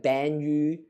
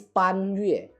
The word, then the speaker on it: Pan Yue: Like yeah, I'm going to guess that in English dub they probably pronounce the word like Ban Yu, something like that. But it's Pan Yue. It's not Ban Yu. That's not how you pronounce a Chinese name.